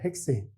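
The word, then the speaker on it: 헥세인: 탄수 6개니까 원래는 핵심이잖아요 핵세인 거기에 말단 2만 5로 바꿔주면 되기 때문에 핵산업 이게 발음이 조금 차이가 나는데 얘를 우리가 보통 핵센이라고 부르잖아요 핵세인 근데 다른 용어로 그러면 핵산이라고도 부르죠 보통 알칸이라고 많이 부르니까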